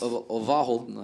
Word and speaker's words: Verhalten: Verhalten, I think. Oh, it's a V, so it's a W.